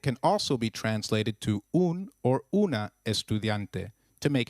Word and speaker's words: un: am a female student is pronounced as double O in Ubuntu and not like the U in umbrella so try saying un